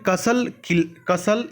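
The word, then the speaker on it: castle: Built कसल इन द एयर। कैसल इसको पढ़ेंगे, टी साइलेंट होता है।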